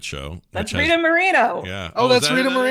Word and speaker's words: Moreno: Is it Moreno or Moreno? Moreno. Because Kermit pronounced a different Moreno. Yeah, Moreno would be the and I was like, the Spanish pronunciation. So, would be Moreno. so Kermit was correct, is what you're saying.